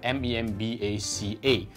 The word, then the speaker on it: membaca: We call it the Bahasa Baku, where a lot of sentences that end with an A supposed to be pronounced as A. For example, in Malay, the word reading is called membaca, M-E-M-B-A-C-A.